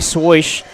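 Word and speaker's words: Swoish: As Brody Swish makes his, I guess it's pronounced Swish. That's how it's spelled.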